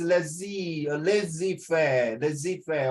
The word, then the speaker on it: laissez-faire: It pronounced lazy fair.